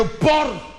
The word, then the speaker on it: porc: la hausse les enfants éviter de prononcer le C il ne se prononce pas il est muet fort la pénurie de